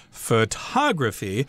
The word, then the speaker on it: photography: the first syllable but if you talk about the Art and Science of taking pictures then that is photography there the accent is on the second syllable and then the adjective